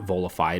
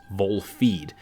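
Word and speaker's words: Volfied: It called this game Volified, and that's how I read it, but it is not Volified. It's Volfeed. And it's a sequel to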